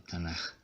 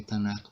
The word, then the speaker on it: Tanaj: Entonces sería la pronunciación Tanaj. Esto lo explico para que lo sepamos, lo conozcamos. Las dos formas son válidas. ¿Cuál es la explicación de por qué Tanaj o por qué Tanaj?